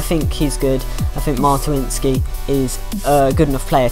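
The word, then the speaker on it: Mączyński: And we have the final centre mid here, Krzysztof Mantuinski. That is how you pronounce his name.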